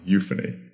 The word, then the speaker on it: euphony: p ho n y so the u sound comes from the euu and phony that's P ho n y euphony this is actually one